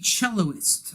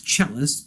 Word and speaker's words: cellist: So I am not a celloist. I'm probably saying it wrong. It's cellist, but I'm going to call it celloist because I'm an ignoramus.